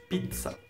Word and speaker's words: pizza: en début d'un mot c'est comme dans zuccher peut-être que on a vécu en français de dire pizza comme zucchero mais en italien c'est plus fort pizza voilà aujourd'hui c'est une